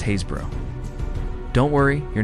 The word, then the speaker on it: Happisburgh: It's pronounced Haysbro.